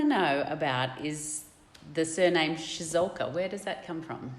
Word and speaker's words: Ciesiolka: and stuff like that, people obviously struggle to pronounce it, but yeah, they eventually get there in the end. That's right. It's the Ciesiolka. Yeah. Ciesiolka.